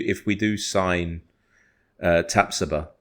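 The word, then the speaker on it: Tapsoba: we do sign uh tapsuba which Apparently that is how you pronounce the name tapsody one thing right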